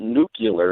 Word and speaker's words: nuclear: There is no nuclear. What They about spell it like Nukeler? That's not nuclear. It's nuclear.